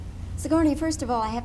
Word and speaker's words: Sigourney: sigourney first of all i have to welcome you